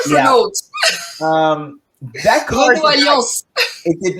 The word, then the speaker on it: Renault: There was a car that we had here in America called the American pronunciation Renault Alliance. Renault. Not Renault.